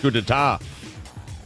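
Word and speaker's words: coup d'état: fired their bassist and drummer over a wedge coup d'etat what what a coup know what we can't believe is that you pronounce that correctly what is happening right now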